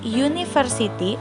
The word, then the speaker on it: university: Waktu kita ngomong a university, meskipun hurufnya huruf U, tapi kan dibacanya U. Berarti itu suara yang keluar adalah huruf Y. Huruf Y itu masuknya ke konsonan.